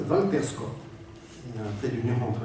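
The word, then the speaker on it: Walter Scott: prose tiré de euh il faut le prononcer à la française Valter SCOT il un trit d'union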